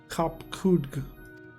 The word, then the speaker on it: Kopkudg: As for nomenclature to address my individual person, I believe it would be pronounced Kopkudg.